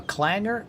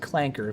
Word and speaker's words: clanker: They call them a clanger. Dude, it is pronounced clanker. If you're going to throw a slur, at least use the right one. Okay. Burn is a clanker, not a clanger.